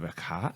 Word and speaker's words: Hecate: you always pronounce the E at the end of a word.